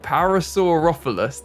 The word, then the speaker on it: Parasaurolophus: So I wanted to put, and I can never pronounce them, the Parasaurolophus. No, I'm not getting it. Parasaurolophus.